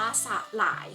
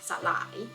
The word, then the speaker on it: สลาย: รอบ นึง นะ คะ คำ นี้ อ่าน ว่า สลาย ค่ะ สลาย เป็น อักษร นำ นะ คะ อ่าน แบบ 2 พยางค์ อีก ต่อ ไป มา